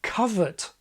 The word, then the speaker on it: covert: The correct pronunciation of this word is covert. Covert is historically related to the word cover, and so just as